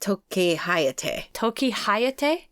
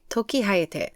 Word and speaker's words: Tokihayate: I say it Tokihayate. Tokihayate.